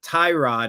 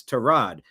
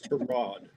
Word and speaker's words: Tyrod: it's not Tyrod, it's Tyrod. But he'll never correct you that way. But that's how you're supposed to pronounce it. It's Tyrod. Mr. Taylor's mother didn't name him after a car part. It's Tyrod.